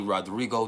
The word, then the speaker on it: Rodrigo: title they call me Rodrigo the dawn mhm but you got to roll your RS or the vibration ain't